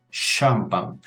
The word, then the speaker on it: champagne: atención a la pronunciación Cómo pronuncio esta palabra francesa champán es decir como si comenzara con una s y una H Entonces en ese caso